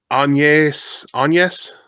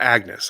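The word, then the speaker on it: Agnès: Um, anes. It's not Agnes.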